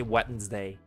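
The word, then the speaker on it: Wednesday: It's a wetness day, right? Finally learned how to say wetness day. Cuz I learned that you don't say it. You don't pronounce it as it's actually supposed to be.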